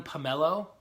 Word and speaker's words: pomelo: The melon pomelo?